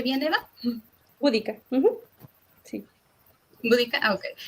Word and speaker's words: Boudica: ¿Lo pronuncié bien, Eva? Búdica, sí.